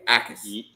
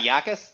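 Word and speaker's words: Jacas: And the J is silent. So it's Gabe Ais. It's a It's not It's not Yakis.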